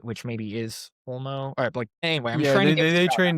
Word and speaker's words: OLMo: full on open source, like Olama, is that how you pronounce it? Olma? I was talking about Olmo. Olmo, yes, those models, and also